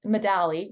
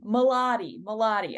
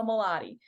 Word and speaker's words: Moladi: So for our audience, it's Modali, right? Am I pronouncing it wrong? I think I am. Modali. Moladi. I'm so sorry. I knew I was getting that wrong. So Moladi.